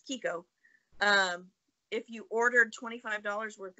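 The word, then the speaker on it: Chicco: And so Kiko, it's pronounced Kiko, it's spelled Chico, but it's Kiko.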